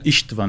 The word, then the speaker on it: István: Lá eles falam Istvan, né? A pronúncia húngara.